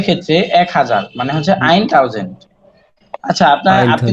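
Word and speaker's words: tausend: হ্যাঁ, ট, ট, এটাই আমরা জানি যে ট এর মতো উচ্চারণ করে।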